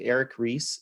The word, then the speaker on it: Ries: The Lean Startup by, I believe his last name is R-E-I-S, I think Eric Ries is I believe how you say it.